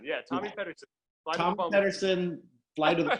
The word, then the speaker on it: Pederson: But just look up, how do you pronounce his last name? Is it Pederson? Pederson, yeah, Tommy Pederson.